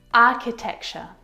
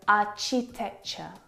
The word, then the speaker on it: architecture: and sometimes some earrings architecture architecture this one is so often mispronounced I hear our cheap texture architecture which is incorrect the CH sound in this word is a sound like in cat architecture architect architect it's